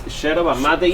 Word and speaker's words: yerba mate: Yerba mate. No. Sheraba? Sheraba. Yeah. It's like very white over Everybody's here. been mispronounced. Yeah, it's not yerba, it's sheraba mate.